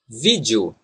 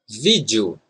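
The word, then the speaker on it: vídeo: is the southeast and sometimes when we say it fast the letter e and o become one single sound listen video video so in fact we have at least four pronunciations for this word video video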